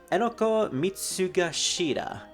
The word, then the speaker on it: Enoko Mitsugashira: Full name, Enoko Mitsugashira. I actually pronounced that correctly.